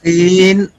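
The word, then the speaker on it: س: Seen pronounced as seen, tip of the tongue comes between the front top and bottom teeth.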